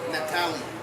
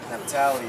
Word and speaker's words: Naphtali: Naphtali. Naphtali.